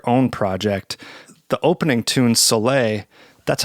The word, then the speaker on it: Soleil: The opening tune, Soleil, that's how you pronounce it, right?